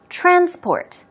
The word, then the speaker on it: transport: you should be careful transport when the stress goes on the first syllable as I said transport its used in the noun form if it becomes transport transport transport sport transport stress goes on the second syllable it then becomes a